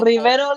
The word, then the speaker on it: Rivero: Rivero, like a river with an O at the end and underscore.